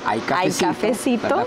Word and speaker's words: ICafecito: redes como hay cafecito se escribe y cafecito y se pronuncia Ay cafecito porque hay cafecito desde